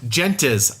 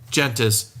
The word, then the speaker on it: gentes: bgg next up is gentes i think is how you pronounce it g en tes by stefan reis house